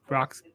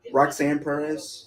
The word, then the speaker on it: Roxanne Perez: on core j and rocks how do you say her name roxy perez roxanne perez roxanne perez i always say rocks i don't know why